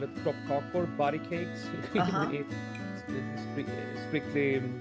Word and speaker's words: kroppkakor: Also, we call it kroppkakor, body cakes. Strictly pronounced.